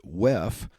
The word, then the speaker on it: WEF: So first, before I get to that, if you don't know what the World Economic Forum is, or WEF for short, or as attendees will pronounce it, WEF, the World Economic Forum was founded by a man by the name of Klaus Schwab in 1971.